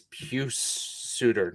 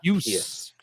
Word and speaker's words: Pius Suter: It is Pius Suter, not Pius. Like the Cardinals reliever from the 80s.